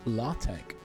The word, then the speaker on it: LaTeX: Yeah, look, this is LaTeX, or it's sometimes pronounced LaTeX, which I've never called it LaTeX.